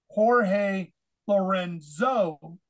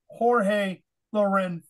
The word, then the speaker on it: Jorge Lorenzo: world feed commentary and they would call him Jorge Lorenzo that's the way it looks if you just look at it in English but the proper Spanish way of saying the Z is like a th so it's really Jorge Loreno that's the proper Spanish